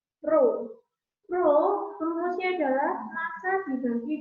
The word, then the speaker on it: rho: Ini bacanya adalah rho.